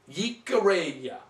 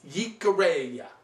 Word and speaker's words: Jicarilla: Jicarilla. Remember, 2 L's in Spanish are pronounced as a Y, so it's Jicarilla.